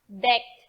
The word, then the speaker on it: deque: then you are DQ which is usually pronounced decked to avoid confusion with a big BQ method of the regular q ADT which has pronounced like an abbreviation be that cube the